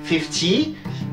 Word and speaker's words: fifty: Et vous voyez bien que l'accent se retrouve toujours en première syllabe. Et faites attention à ces petits trucs-là, parce que par exemple, si vous dites 50, l'anglais, lui, avec l'accent sur la dernière syllabe, il va avoir tendance à comprendre 15.